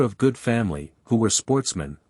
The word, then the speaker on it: sportsmen: Which were of good family, who were sportsmen, a French word pronounced with the accent on the men.